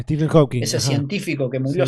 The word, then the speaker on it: Stephen Hawking: Eh, Viste, qué sé yo, no le podemos decir incapaz al científico Stefan Hawking, así se llama, Ujú. así se pronuncia. Stephen Hawking.